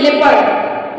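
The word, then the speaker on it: leopard: इसी तरह सेकंड है एल ई ओ पी ए आर डी इसको हम लिप पढ़ते हैं इसको पढ़ते हैं लेपर्ड लेपर्ड पीपल लेपर्ड यहां पर ओ से पहले ई है दोनों में इसलिए यहां पर ओ साइलेंट करेगा ये तो फ्रेंड्स हो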